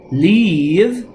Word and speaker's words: leave: Leave se parece en pronunciación a vivir, live. Lo que pasa es que leave, que significa irse, se pronuncia con una I más larga. Leave.